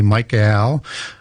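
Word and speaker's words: Michael: Uh, and I say that just deliberately where I have a eel little Yeah. Why do you say it like that? Well, because in angelic names, they end with a Hebrew word, a word which is eel, which is defined as an angel or a god.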